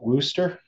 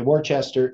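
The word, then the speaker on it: Worcester: paper on that um they pronounce it Wooster yes they do well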